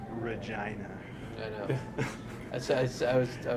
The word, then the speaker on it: Regina: and uh Regina yeah got to say it like this Regina I know I I